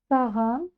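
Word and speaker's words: саған: слов идём дальше Саган Саган сначала пробуем произнести Сахан через букву ха а затем немножко звонче у нас получается Саган Саган идм дальше СД Баев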